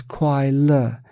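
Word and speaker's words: 快乐: Ordinary beings mistakenly perceive this entire process of changing feelings as happiness, pronounced as kuai le in Chinese. Kuai means fleeting and le means alleviation. Hence, it is called kuai le, happiness.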